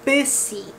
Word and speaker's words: busy: Here in busy, you're pronouncing it as B. The U, you're saying like B. You're not saying boo or boo, like bussy. You're not saying bussy, you're saying busy.